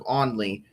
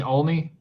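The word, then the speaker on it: Olney: located near Lancaster or 13 miles southeast of Onley, moving east at 50.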